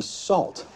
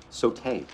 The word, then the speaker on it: Sault: You must be Salt. Soat, so, sa, slut, no. Saute. S-A-U-L-T, like Sue.